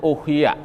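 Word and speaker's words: أُوحِيَ: Kalau telah diwahyukan dibacanya uhiya. Uhiya.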